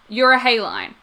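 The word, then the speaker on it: euryhaline: had to look up how to pronounce this you're a hay line uh which is spelled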